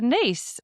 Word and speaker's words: Nice: You don't know the niece biscuit. Oh, it's literally coming up. Nice biscuit. But I think it's pronounced niece.